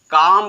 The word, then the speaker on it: calm: उसके बाद CALM, इसको हम पढ़ेंगे काम पढ़ेंगे, CALM, इसको काल में नहीं पढ़ सकते, इसको हम पढ़ेंगे काम।